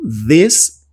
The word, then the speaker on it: this: A gente tem aqui um TH, que ele é pronunciado de formas aqui levemente parecidas entre todos esses demonstrativos. Então, this, that, these e those. Basicamente, a língua que vai nos dentes, tá? Nos dentes de cima.